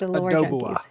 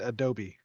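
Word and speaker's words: Oudoubua: For the for the It's pronounced Adoba. Adobe. The hunger. And that is the Titan Kraken. Um, somebody said Adobe.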